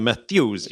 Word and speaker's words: Methuselah: The Methuselah ship, did I pronounce that right? Yeah, the Methuselah There we ship.